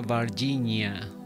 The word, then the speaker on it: Varginha: si mal no recuerdo creo que se pronuncia barginia Virginia en Brasil que